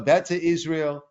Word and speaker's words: Beta Israel: be focusing on what's known as the beta Israel pronounced bet beta Israel or the Ethiopian Jews